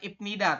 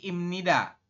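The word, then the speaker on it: 입니다: bunyi menjadi m jadi bacanya bukan ibnida tapi imnida artinya adalah Ya kalau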